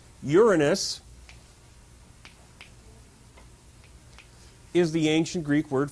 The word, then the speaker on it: Uranus: Gaia, all by herself, brings into existence Uranus, and please do pronounce it that way, the sky, the big expanse of blue stuff, Pontus, who is the ocean, which I am indicating here.